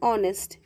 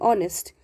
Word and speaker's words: honest: r okay then an honest h is silent here as well honest so we use in